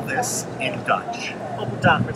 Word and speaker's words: appeltaart: Appeltaart with slagroom.